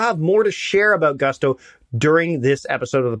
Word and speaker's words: Gusto: Now, what is Gusto? Well, it rhymes with musto or rusto, as in let's do it once more with Gusto.